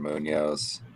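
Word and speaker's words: Muñoz: At least pronounce it right if you're going to take my guy. Sebastian Munoz. Yeah. I just can't do the rolling in. I have trouble with it. Munoz.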